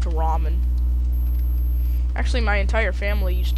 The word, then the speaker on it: ramen: Raymond. The Raymond noodles. Raymond. I used to call it Raymond all the time until I learned it's pronounced ramen.